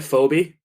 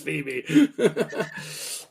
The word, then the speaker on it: Phoebe: was considered a babe isn't it fobby phobe Phoebe I don't know you could be right I'm just joking it's spell it's Phoebe it's funny that you